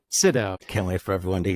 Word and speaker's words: Sydow: Sydow. Sydow. Can't wait for everyone to hear how he pronounces the same each time. It's not Sydow. It's Sydow. You know, you have to say Sydow, not Sydow.